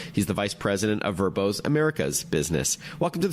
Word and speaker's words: Vrbo: especially with apps like verbo spelled VRBO which has been around